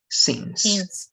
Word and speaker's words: since: Just one detail in pronunciation is going to be this one. Instead of I, this is an exception, it's only going to be E, since.